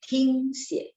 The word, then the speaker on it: 听写: Nah, jadi 听itu dengar T-I-N-G ya, bacanya T-H-I-N-G. 听写, ada angin.